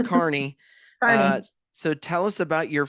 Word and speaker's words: Kearney: A lot But of people mispronounce. Yep. it's Kearney. Carney.